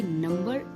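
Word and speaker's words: number: date and subtle okay नंबर इनका एक exception हो सकता है क्योंकि ऊपर हमने देखा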